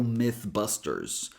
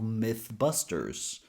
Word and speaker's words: Mythbusters: Careful so you don't pronounce it as E.